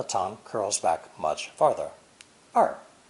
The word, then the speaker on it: 二: It's pronounced fourth tone, 二, 二. This is the same retroflex R sound we mentioned in lesson 1. The Mandarin R sound is like the G in prestige or the S in television, except that